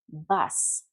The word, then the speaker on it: bus: So for example, you'll see a word like bus, and many Spanish speakers will say bus. Well, it's not bus in English. Bus. It's more like a sound, not an oo sound. Bus. not boost.